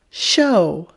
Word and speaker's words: show: becomes mo mo and h-o-w is how but add an s then we use that letter combination sh sh that letter combination sh sh and the ow changes to oh show show a lot of students